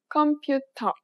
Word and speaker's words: 컴퓨터: It sounds similar to its English counterpart, but there are important differences. If you pronounced it like you would in English, you would be hard to understand.